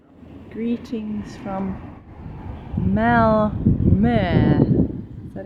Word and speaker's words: Malmö: Greetings from Mal. Is that how you say it? Sounds like that's how you say it. Yes, you're supposed to say the O as in E.